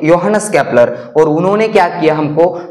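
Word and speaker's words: Johannes Kepler: Okay, ये जो इसको स्पेलिंग इसके जे से शुरू हो रही है, मगर उसको क्या पढ़ना है? योहानस केपलर।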